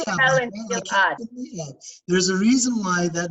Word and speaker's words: Ahab: In Hebrew, it's Achav. Ahab. We should say Ahab.